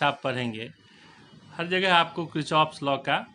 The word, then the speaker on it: Kirchhoff: ऐसे जनरल बोलचाल में लोग इसको किर्चहॉफ्स लॉ कह देते हैं, लेकिन अगर आप सही प्रोनाउंसिएशन करेंगे तो यह है किर्चहॉफ्स लॉ।